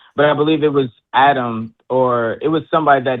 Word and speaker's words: Adam: Well, I mean, actually, in Hebrew, it is pronounced Adam.